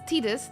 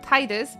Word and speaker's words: Tidus: And there are so many instances of dubbed proof that it's Tidus, not Titus, but everybody's like, no, it's Titus.